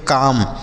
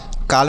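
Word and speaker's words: calm: अगला शब्द है सी ए एल इ सी ए एल एम इसे हम पढ़ेंगे काम। काल में नहीं पढ़ेंगे। काम पढ़ेंगे क्योंकि यहां पर एल साइलेंट है।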